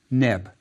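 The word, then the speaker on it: nb: The semicircle hieroglyph is a woven basket and was pronounced neb.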